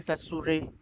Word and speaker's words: Saussure: Ferdinand de सश्योर। वही Ferdinand de सश्योर को Ferdinand de ससुरे, फर्डिनेंड ससुरे ऐसे करके प्रोनाउंस करता है, तो वो आपके ऊपर है।